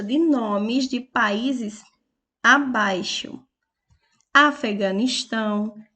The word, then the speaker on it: Afeganistão: a palavra Afeganistão e a palavra Afeganistão tem como sílaba mais forte e a última Afeganistão é aquela com que eu pronuncio com mais intensidade Então ela é uma